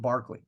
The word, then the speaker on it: Berkeley: It's spelled like Berkeley, but for some reason in the Old English, they said it was pronounced Barclay. But Governor William Berkeley, right?